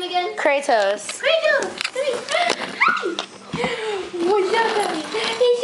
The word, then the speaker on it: Kratos: Kratos.